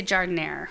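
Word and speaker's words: jardinière: I feel like the J needs to be like a ha. Huh. Yeah. No, it is a J.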